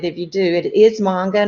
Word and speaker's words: manga: out on it if you do it is manga not manga these are originally published in Japan read right